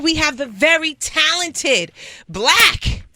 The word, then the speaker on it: 6lack: His name is Slack, Six Slack, and I was like, oh. Okay, that's not it. It's pronounced Black.